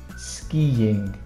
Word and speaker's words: skiing: this one go skiing skiing it's difficult to say these two eyes together but there's not many